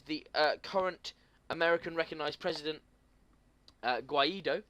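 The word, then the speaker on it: Guaidó: It signals a big shift, and the current American recognised president, Guaido, as we're calling him, I think that's right. It has got a little accent on the O, just for the viewers.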